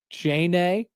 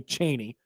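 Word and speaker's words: Cheyney: Chain A. C H I probably It's probably Cheney. No, C H E Y N E Y. Cheney. It would definitely be Cheney, but it looks like Chen.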